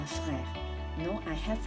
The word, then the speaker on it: frères: As is silent, j'ai 3 frères.